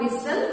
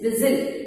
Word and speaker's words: whistle: Pronunciation, this is not whistle, this is whistle. T is going to be silent here.